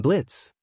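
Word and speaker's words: Blitzø: "Hello, I'm Blitz." The O is silent, he said, surprised to see Isuku.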